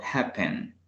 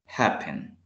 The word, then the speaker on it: happen: Por ejemplo, happen. El acento se le escucha al inicio. Happen.